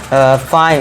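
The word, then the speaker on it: fine: तो यहाँ पे ई को क्या कर देंगे साइलेंट। अब देखिए फाइन, इसे क्या पढ़ेंगे फाइन, और इसे क्या पढ़ेंगे राइड, फाइन राइड।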